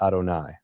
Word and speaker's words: Adonai: 135 136 AD was when you see the letters Y vave, you pronounce it Adonai, Lord. You don't pronounce it the way it's written.